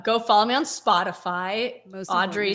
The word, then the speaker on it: Audriix: follow me on Spotify Audrey spelled a UD d r i iix two eyes One X but it's pronounced like Audrey the x is silent but um yeah so